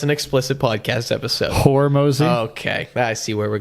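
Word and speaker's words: Hormozi: Hormozy?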